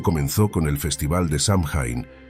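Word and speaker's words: Samhain: Como estás conociendo, todo comenzó con el festival de Samin, que se pronuncia Soin, celebrado por los celtas hace más de 2000 años.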